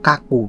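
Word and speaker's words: 書く: Nah di sini kungyominya yaitu kaku bro, kaku atau kaki mas, kaku. Nah sedangkan ongyominya yaitu so bro, ongyominya so.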